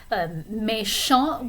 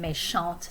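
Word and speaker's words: méchant: could say je suis meschant which means i'm mean no i don't think so just i think i'm nice mesha would be the masculine form meshant the feminine sombatic and sampa are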